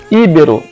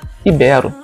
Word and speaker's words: ibero: prefere a pronúncia recorde íbero envie ibero que é uma culpa é considera mais correto ibero pública que muita gente